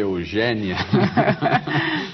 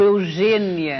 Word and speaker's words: Eugénia: deve ter percebido que eu fiz esforço aqui para dizer Eugênia e não Eugênia e não Eugênia o seu nome se escreve com acento agudo Agudo todas as pessoas